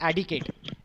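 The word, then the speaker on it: etiquette: लिखा भी गलत है इसको पढ़ा जाता है एडिकेट इसमें हैंड साइलेंट होता है क्योंकि साइलेंट होते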